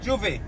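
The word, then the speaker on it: J'ouvert: You call it Juve, or how did you pronounce it? Juve.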